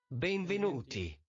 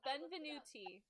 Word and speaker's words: benvenuti: This is how it's supposed to be pronounced. Benvenuti. Benvenuti. I I looked it up. Benvenuti.